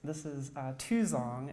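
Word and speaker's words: 2x0ng: This is Tuzong, is how you pronounce that.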